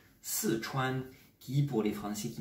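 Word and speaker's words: 四川: la province du Sichuan, normalement quatrième ton ici et premier ton. Sichuan, qui pour les Français qui ne parlent pas le chinois, prononce Sichuan.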